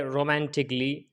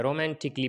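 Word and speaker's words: romantically: For example जैसे रोमांटिकली, क्रिटिकली, physically, म्यूजिकली, इसके अंदर डबल एल वाई से पहले ए आया है, ये साइलेंट है। रोमांटिकली पढ़ेंगे इसको, क्रिटिकली, फिजिकली, म्यूजिकली।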